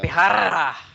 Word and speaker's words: Tapejara: There's your inner Spanish coming out, keeping Tapejara. that J silent. Oh, Good man. job, Fred. Ese Tapehara. Oh man. Oh, Tapejara. I think you need to roll that R too. Yeah. Tapehara.